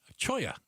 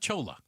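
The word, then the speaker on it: Cholla: Choya. Yeah, it's not Chola or Cholo, which is C H O L O.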